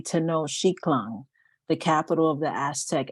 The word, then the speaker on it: Tenochtitlan: So I've been trying to pronounce it correctly, Tenochtitlan, the capital of the Aztec Empire.